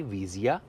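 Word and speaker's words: Visia: तो अगर वेरिएंट की बात करें तो ये गाड़ी विजिया, विजिया प्लस, एसेंटा और इसके बाद में एन कनेक्टा और टेक्ना प्लस, ये इसके वेरिएंट इस तरीके से प्रोनाउंस होंगे।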